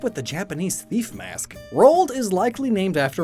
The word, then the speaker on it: Roald: to reach both poles, and it rhymes with cold, which is where penguins live.